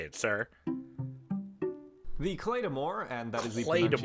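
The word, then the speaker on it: Claidheamh Mòr: The Claymore, and that is the Claymore. pronunciation, not the translation. I know it's the Gaelic spelling of Claymore.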